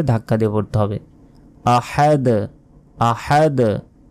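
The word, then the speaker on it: أَحَد: পড়বেন আহাদ আহাদ আহাদ হার উচ্চারণ হবে আহাদ শেষে ধাক্কা দিয়ে পড়তে হবে কফ বা জিম দালে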